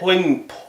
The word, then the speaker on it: poignant: Poignant. The G is silent. Poignant.